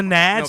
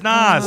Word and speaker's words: Nas: white you are dude you say n Nas whatever that's so close to NZ people are n reminds me of nitric oxide so you know exactly Jesus God I'm sure that's spelled with an S NZ he said NZ that's because I heard somebody else say NZ well they're an idiot it's Nas he was Puerto Rican